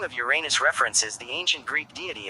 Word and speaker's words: Uranus: The pronunciation of the name Uranus preferred among astronomers is Journes Uranus, with stress on the first syllable as in Latin Uranus, in contrast to Gerenes Uranus, with stress on the second syllable and a long a, though both are considered acceptable.